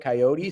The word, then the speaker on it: coyote: just keeps spelling it coyote. So, I don't know how you're pronouncing it. as someone who has killed hundreds of uh coyotes e in western Nebraska. It is coyote.